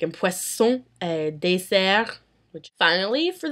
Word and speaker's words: poisson: However, in words very similar to that, where there are two S's, an S is pronounced as an S. Like in poisson et dessert.